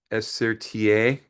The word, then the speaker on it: Esertier: My name is Esertier. Uh, you can just remember four letters. SRTA. It kind of helps you to pronounce it.